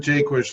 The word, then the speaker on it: Jaquish: i have people of mine when people uh mispronounce my name so john jaquish ladies and gentlemen j-a-q-u-i-s-h and found on social